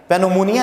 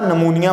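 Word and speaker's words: pneumonia: Died suddenly from नमूनिया, इसके अंदर piece silent होता है, पेनोमोनिया नहीं पढ़ा जाता, नमूनिया पढ़ा जाता है।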